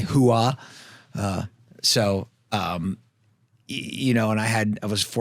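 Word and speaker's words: Hooah: That's spelled H O ah, by the way. Huah.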